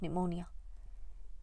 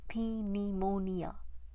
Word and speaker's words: pneumonia: and certain to catch pneumonia only they said it pronouncing the P and a double e to make me laugh had for years I called it that pnemonia you'll catch pnemonia for